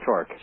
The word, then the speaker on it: Tork: too shy I'm too humble okay I'm Peter torque you're Peter torque or or and I never